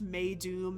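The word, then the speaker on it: Meidum: And I could not find uh where this name comes from, but it can be uh it's pronounced May Doom.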